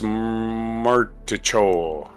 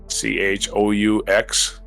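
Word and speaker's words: Martichoux: This is from a story by Alex Martichot. I think that's the French pronunciations. Chaux? Cho? No? Martichot.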